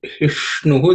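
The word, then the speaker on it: हिष्णु: But hishnu, the ish is same as wish. The tip of the tongue should point towards the roof of the mouth, and you say ish.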